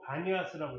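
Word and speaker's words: Banias: 이 판이 누구냐면, 그래서 이쪽 지역 이름 자체가 파니아스. 근데 이쪽 아랍 사람들은 영어로 피바람을 못해. 그래서 파니아스로 못 읽고 바니아스라고 읽어요.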